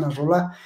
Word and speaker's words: Nasrallah: La gente que sigue a Nasrallah, porque lo pronuncia mal este señor de España, es Hassan Nasrallah, el líder de, ahí está, ahí lo estamos